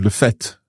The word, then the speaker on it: fait: And it's interesting to see le fait, the word F-A-I-T very often would be pronounced as fait. But here, when we're talking about the fact, we use the pronunciation le fait.